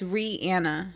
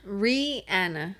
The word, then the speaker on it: Rihanna: recording so yeah okay oh how do you say your name okay so it's rihanna ree anna yes oh okay yeah hurry